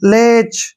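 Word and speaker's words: latch: ना ध्यान रखना है जब भी सीएस से पहले टी आता है तो टी जो है हमने नहीं पढ़ना है यानी टी साइलेंट हो जाता है तो इसको हमने कैसे पढ़ना है एल ए का जो उच्चारण है वो ले के रूप में लिखेंगे ऐसे ठीक है और टी हमने नहीं पढ़ना है और सी एच का उ उण क्या करेंगे च ऐसे लेच क्या पढ़ेंगे इसको लेच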